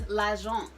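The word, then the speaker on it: L'Agence: All right, here we have lagence. I had to find out the pronunciation. It looks like Elle Agency or something like that, but it's lagence, okay?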